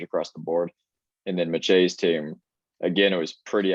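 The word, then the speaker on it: Machey: see uh so we had message was that messige yeah i actually did a youtube pronunciation guide for his name yeah um so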